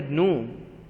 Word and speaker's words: gnome: clue so now students you never see a noon see sometimes some people call it new and sometimes some people call it new and G is silent so it's no so